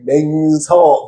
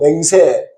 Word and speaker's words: 맹세: 우리가 어 한자적인 의미가 있는데요.이 맹서 맹세. 이게 맹세할 맹자에다가이 서자가 원래 서약할 서입니다. 그런데 이제 발음이 새다가 이제 바뀌었어요. 원래 한자는 맹서예요.서 맹서.